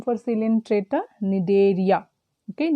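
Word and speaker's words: Cnidaria: other name for cylindreta nidaria okay nedery the spelling was given wrong c n i d a r i a need area is silent here and here here also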